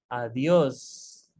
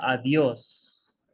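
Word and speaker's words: adiós: it means that uh you need to give a little bit more stress on this world right as the adios uh dios adios and again H is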